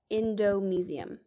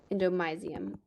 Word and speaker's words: endomysium: it will only have endomesium endomysium both pronunciations work it does not have